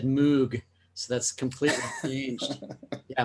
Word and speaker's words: Moog: ring true right boy speaking of uh the pronunciation thing i've always said moog so that's completely changed yeah moog that's the right way to say it that's